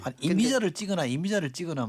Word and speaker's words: 임이자: 여기 이미자가 아니고 임이자인데. 그러니까 발음이요. 예. 임이자 이렇게 해야 됩니까? 그렇죠. 예, 그렇게 해주셔야지. 막 이미자로 이렇게 하면 그러니까 저기 지역구 가면은요 동백아가씨 노래를 많이 부르라 해요.